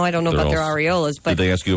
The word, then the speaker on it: areola: that incorrect uh apparently it's supposed to be areola what with the accent on the on the re i thought it was pronounced silver dollar the pink penny what i